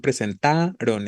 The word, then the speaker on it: presentaron: Exacto, la tónica está en presentaron, en ta, ¿no? Efectivamente, en la penúltima sílaba.